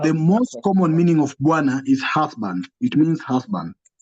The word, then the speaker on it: bwana: So it becomes bua, bua, buana. So you can have a syllable like that, buana. So the na is made up of one consonant and one vowel as the last syllable, na.